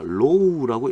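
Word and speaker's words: ρ: 제가 여기 요렇게 적어 놓은 건 이 그리스 문자로 우리가 low라고 읽는 거예요. low. 그리스 문자입니다.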